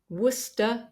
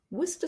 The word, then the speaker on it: Worcestershire: name of this sauce Worster sauce it looks like it has far more syllables than that but we don't pronounce them just wer Worster source so if you're